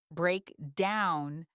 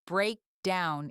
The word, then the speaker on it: break down: If you stress break instead, if you say break down, it sounds odd, almost like a command, like you were telling someone to break something downward. Stress the second part, break down. That is the natural rhythm.